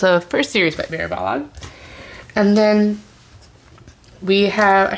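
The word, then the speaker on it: Balogh: with the author Mary bog and she just basically shows the question is how to pronounce her name she's like bog like the Kellogg cornflakes so yes that is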